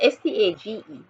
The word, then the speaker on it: stage: Cottage Cottage okay Network s-t-a-g-e s-t-a-g-e once and more responsible right the G will be pronounced the soft Soldier would be pronounced